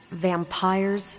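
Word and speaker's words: Vampyres: Vampires with a Y? Pronounced exactly the same as vampires.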